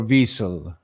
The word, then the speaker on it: Wiesel: about a man named Elie weasel or Wiesel as he pronounced it and uh Eli